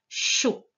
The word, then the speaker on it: chaud: Chaud s'écrit ch, o. Donc avec CH et le son O qui s'écrit A et U. À la fin, il y avait un D qui était déjà placé. C'est une lettre coquine qu'on n'entend pas, mais qui doit être